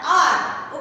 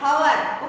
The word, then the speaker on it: hour: Here also we pronounce it as a R. Okay, not hour.